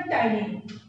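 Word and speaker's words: ptyalin: अब यहाँ आप लोग क्यों पी से स्टार्ट हुआ, क्योंकि पी क्या होता है, साइलेंट होता है, ठीक। पी हमारा क्या होगा, साइलेंट।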